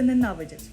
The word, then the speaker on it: ненавидять: українці ненавидять ворогів чи правильний наголос у слові ненавидять на вашу думку Так ненавидять ненавидіти Я думаю що в даному випадку наголос правильно Так це правильна відповідь так мені бал як